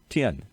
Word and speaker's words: Tien: How do you say your last name? Tien. Tien, Tien.